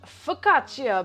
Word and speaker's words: focaccia: i'm gonna be making fresh focaccia bread um i looked it up so i i can confirm that that is how it's pronounced we're gonna be making